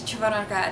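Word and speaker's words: Червоноград: Oh goodness, Chervonograd. It's Chervon Hard, Chervonograd.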